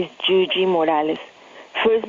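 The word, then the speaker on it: Yuyi: Hello, my name is Gigi Morales. First name is spelled Y-U-Y-I.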